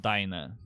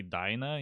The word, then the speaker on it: Dinah: I always pronounce it Dina in my head Dina. Dina. because I have problems. No, I also have problems, but they say Dinah in the audiobook, so that's just the name I They go do.